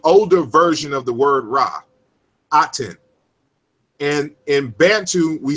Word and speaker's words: Ra: So for example, as I mentioned earlier, the word Ra, which we say Ra, is really Rek or Rich. It's a Ch sound at the end of it.